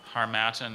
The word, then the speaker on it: Harmattan: R ma ta n Harmattan is spelled har ma TT am it's like a tribute in the helmet